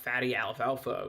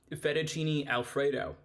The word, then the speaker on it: Fettuccine Alfredo: Real Dipper say, why are you cooking fatty alfalfa? Why are we not cooking a pizza? Oh, so that word is pronounced Fettuccine Alfredo.